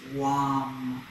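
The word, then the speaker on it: vam: mantra which again is wom it's spelled with a v v-a-m but it's pronounced long and i invite you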